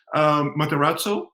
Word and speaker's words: Matarazzo: So the new coach, Matarazzo, he goes into his third season in the Bundesliga, right?